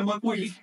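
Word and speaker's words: macuilli: Esa barra vale 5 y se pronuncia McQueen, que se compone, es una composición de los términos. Ma, lo relativo a la mano.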